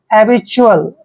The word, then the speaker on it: habitual: और देखिए यहाँ पे क्या करना है, TUAL का उच्चारण हमने ट्यूल नहीं करना है, च्यूल करते हैं, च्यूल, ठीक है। जब भी तीनों लेटर, चार लेटर इकट्ठे आते हैं TUAL, उसको हमेशा च्यूल पढ़ना है, च्यूल।